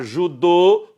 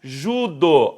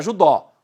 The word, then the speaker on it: judô: Agora sem acento algum, não é judó. Aqui muda um pouco. Aqui a pronúncia é diferente das demais. Nas demais, acento circunflexo ou agudo, aqui não. Aqui acento circunflexo, vou lutar judô ou vou lutar judo.